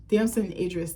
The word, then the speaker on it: Damson Idris: He almost gives me like the Damson Idris tease.